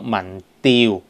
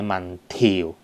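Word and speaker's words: 民調: 講這個呢是讀民調不是民調、OK? 民意調查、OK? 是有多重讀音的，調呢就讀調教、OK?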